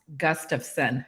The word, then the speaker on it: Gustafson: holiday to my name so it's pronounced Gustafson it's Swedish so think the phrase gust of wind and you trade the wind for the sun gust of sun isn't that easy wonderful